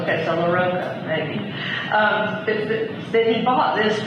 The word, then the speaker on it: LaRocco: Is it LaRocco or LaRocco? LaRocco or LaRocco? There's always a dispute. It rhymes with Coco. Coco. Okay, so LaRocco, maybe.